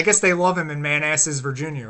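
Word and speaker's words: Manassas: has something something else I think they pronounce it Manasses but I'm like no that sign says man asses like it spelled man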